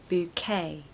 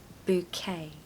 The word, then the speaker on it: bouquet: that so bouquet bouquet so you're going to stress the second syllable okay so bouquet bouquet so all throughout April